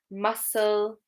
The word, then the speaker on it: muscle: So we've got scissors, muscle, scene. Okay, with these, the C is silent.